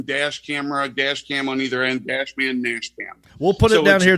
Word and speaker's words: DashMan NashCam: DashMan NashCam. DashMan NashCam. Like Nashville. So it's like yeah, that Nashville and then dash cam on either end, DashMan NashCam.